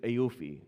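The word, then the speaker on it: AAOIFI: central bank of Bahrain, which is AUI is how it's pronounced, but it stands for the accounting and auditing organization for Islamic financial institutions.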